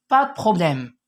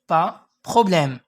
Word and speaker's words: pas de problème: دونك في النطق كتقول با بروبليم، حتى ديك دو تقدر ما تنطقهاش، او با دو بروبليم، ماشي دو كتقول د، غير د ديك او ما كتنطقش.